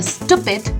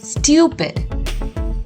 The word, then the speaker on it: stupid: time you might sometimes pronounce it as a stupid but no it's not stupid it's stupid you have to stress on the U syllable stupid what do we call